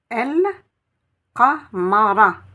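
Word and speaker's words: القمر: Et vous remarquez que je dis bien El Qa, parce qu'il n'y a pas de Shedda. Donc je prononce bien le Lem.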